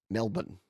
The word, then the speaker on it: Melbourne: pronounce Melbourne in Australia here's the key just forget everything after the B and go straight to the end Melbourne straight to the end